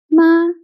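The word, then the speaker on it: 妈: For example, ma means mother. M is the initial. A is the final and this is a first tone. So m a ma.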